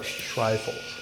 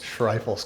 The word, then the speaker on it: Schreifels: Like a rifles, but Shrifles. Shriles. Shrifles.